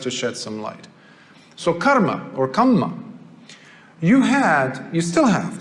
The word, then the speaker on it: kamma: I say karma because that's how they say it. We call it kamma, but it's the same thing.